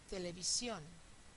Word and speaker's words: televisión: Televisión, televisión. El estrés está en la última sílaba, termina en N, con lo cual sí le hace falta una tilde.